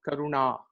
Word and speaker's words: karuna: But Swami used to say that there should be a nasal tone of na, karuna.